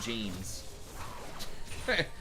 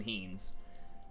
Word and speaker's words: jeans: Los jeans. That's actually how you say it. It's not even heens.